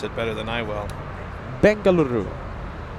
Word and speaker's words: Bengaluru: Bengaluru. Now I like how you roll the Rs.